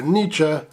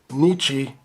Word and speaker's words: Nietzsche: He's a fan of the German philosopher Nietzsche, even though he mispronounces it Nietzsche.